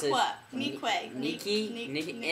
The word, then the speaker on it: Nique: Alright, I don't know how to pronounce Niqua. This. Niqua. Niki? Niki. N-I-Q-U-E. Nique. Unique. You're very unique.